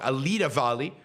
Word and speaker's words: Alida Valli: Alida Valli, who is amazing as Kira.